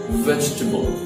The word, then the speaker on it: vegetable: after Delta G in the world remains silent vegetable vegetable next one is not activity there are three syllables in this word and deep tip adjectives